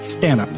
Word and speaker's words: Stanhope: And who I've been calling Stanhope is more properly pronounced Stanhope.